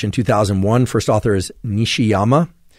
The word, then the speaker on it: Nishiyama: First author is Nishiyama, just as it sounds.